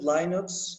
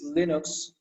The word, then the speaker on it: Linux: third one linux okay somebody they pronounce that lineups somebody pronounced that lunix is linux okay did you understand it's